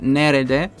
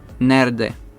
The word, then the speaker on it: nerede: En este caso les voy a decir también la pronuncia de esta palabra, porque un nativo suele omitir la E. Entonces quedaría kediler nerede. En vez de decir nerede, dicen nerde.